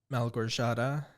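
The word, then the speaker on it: Małgorzata: we are covering 2019's the other lamb by Mel gorshada that's how you pronounce it I did not know how to pronounce it Mel gershotta uh schumafska our first woman director on the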